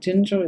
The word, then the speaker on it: Ginger: Is that how you say it? Ginger is how we pronounce it.